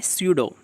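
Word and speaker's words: pseudo: याद रखिए, काफ़ी अच्छा क्वेश्चन बनता है कि ऊँट किस प्रकार का पशु है, तो याद रखिए ऊँट होता है स्यूडो। इसमें पी साइलेंट है, ठीक है।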